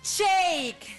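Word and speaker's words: Shayk: terminó con la modelo rusina sy así se pronuncia Shake ch yo no sé ni cómo se dice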